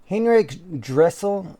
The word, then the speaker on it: Heinrich Dressel: Shapeshifting is an album by Heinrich Dressel. Am I pronouncing that right?